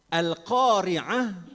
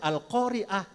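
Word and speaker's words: القارعة: Alqoria'ah. Karena membacanya dari bahasa Indonesia, akhirnya dibaca Al-Qaria'ah.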